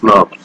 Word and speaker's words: snRNP: They are pronounced as SNPs.